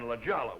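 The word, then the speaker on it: La Jolla: This guy's in a bar in in Ljala which is spelled La Hoya comes out San Jose.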